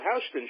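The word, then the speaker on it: Houston Street: the Houston Astros but in Manhattan that street is called Houston Houston yeah right so I could have to understand how the entire country mispronounces it there you go especially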